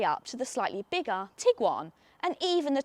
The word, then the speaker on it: Tiguan: Volkswagen like to make a habit of producing cars with hard to pronounce names. You've got the Tiguan, the Touareg and the Arteon.